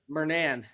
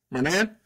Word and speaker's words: Murnane: We are here with Lou Murnane. Is that how you say it? Murnane. Murnane.